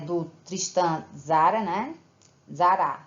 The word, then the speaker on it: Tzara: do tristan tzara né zara se diz assim tristan tzara eu digo mas a palavra se o nome dele se pronuncia cristã zara ele foi o líder do